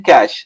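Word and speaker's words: cache: जैसे यहाँ पे एक यूनिक कोड है, इसको कहते हैं कैश, CACH ही है इसका, लेकिन इसको हम प्रोनाउंस करेंगे कैश।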